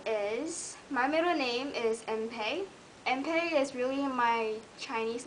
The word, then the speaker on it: Enpei: They always pronounce like Enpei or or. It's Enpei, E-N-P-E-I, Enpei.